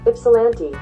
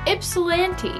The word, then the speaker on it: Ypsilanti: So we got Bessemer, Harlingen, and I don't know how to pronounce the last one. Let's ask Google. Ypsilanti. Ypsilanti.